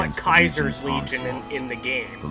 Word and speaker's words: Caesar: Four years have passed since Okay, so the narrator calls it Caesar's Legion, but they call it Kaiser's Legion in the game.